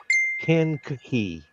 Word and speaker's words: Kankakee: Carl, please tell me, am I pronouncing that name correctly? Kankakee.